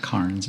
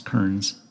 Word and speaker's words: Kearns: Yeah, not Kearns, it's Kearns. Right.